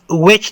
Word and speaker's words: which: باره کې پوښتنه کوو which ځینې خلک ویچ تلفظ کوي ویچ خو دا incorrect یعنی ناسم ده دې اصلي تلفظ which ده which د which